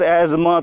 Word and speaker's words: asthma: So if you will pronounce asthma, so you will write ASHMA. You will remain silent T, and your spelling will matter in the paper.